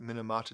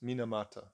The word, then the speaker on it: Minamata: chose to uh to write a song about minimata disease is it minimata I feel like I'm produced oh pronouncing it wrong hang on no it is minamata apparently they made a movie about her in